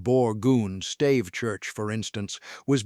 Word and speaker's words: Borgund: The Borgund, pronounced Borgund, stave church, for instance, was built around 1180.